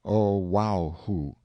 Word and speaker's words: Oahu: him after this island Oahu pronounced oaho the first gate he